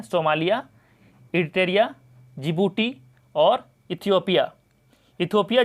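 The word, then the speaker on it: Djibouti: जिबूती की राजधानी है जिबूती सिटी, इसमें लिखा था डी, तो डी साइलेंट हो जाता है, पढ़ाता है जिबूटी।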